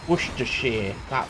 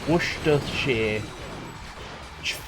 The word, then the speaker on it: Worcestershire: Worcestershire, that's how you say it. Worcestershire.